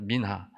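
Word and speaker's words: מנחה: 소재는 히브리어로 민하라는이 발음입니다. 그래서 우리나라 말하고 단어로도 되게 이쁜 단어입니다. 민하 선물 예물이라는 뜻입니다.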